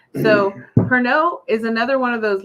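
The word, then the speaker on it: Pernod: of a lemon peel see it's got a D don't don't pronounce it so perno is another one of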